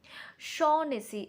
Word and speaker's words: Shaughnessy: Shaughnessy, Shaughnessy. So the GH, that pronunciation will be omitted, like Shaughnessy.